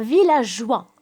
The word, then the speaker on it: villageois: Un villageois. Alors aussi, la lettre S ne se prononce pas.